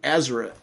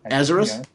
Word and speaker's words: Ezra: around getting things done including ezra as i always pronounced his name wrong as azeroth yeah okay good and